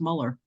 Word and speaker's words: Muller: I said Mueller, it's Muller.